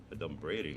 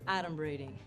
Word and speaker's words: adumbrating: Adumbrating, that's not even a word. Okay, first of all, it's pronounced adumbrating.